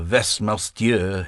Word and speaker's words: Westminster: She pronounced Westminster Vesmier in the French manner.